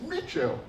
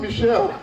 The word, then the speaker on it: Mitchell: Your name is Mitchell, not Michelle. But that was the name of the idea. I couldn't pronounce it. I was saying Michelle, because Michelle is the name I can pronounce easily. But it's not Michelle. Michelle is a woman, not a man.